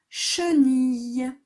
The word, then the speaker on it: chenille: chenille, chenille. Et il y a un E muet à la fin de chenille.